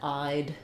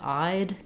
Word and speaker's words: I'd: But I think for most people, knowing that I'd is the same as I'd can be very helpful.